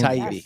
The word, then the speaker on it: Taibbi: Taibbi. Taibbi, the guy Matt Taibbi.